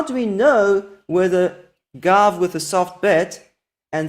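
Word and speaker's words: גב: So let's start with the word gav, gimel bet, and we all know that the last sound there is a v, gav.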